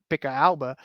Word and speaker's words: Pickelhaube: Because by the 1860s, the Pickelhaube was a Pickelhaube would actually be how you pronounce it.